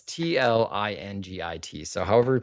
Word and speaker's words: Tlingit: Okay, well, it's Tlingit. So however you pronounce it, I'm gonna say Tlingit, but I might be pronouncing that incorrectly.